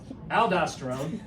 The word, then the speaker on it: aldosterone: It rhymes with baldosterone. Aldosterone.